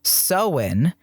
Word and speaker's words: Samhain: halloween is derived from the uh gaelic festival sowen which is spelled s-a-m-h-a-i-i-n sam hein it is spelled samhain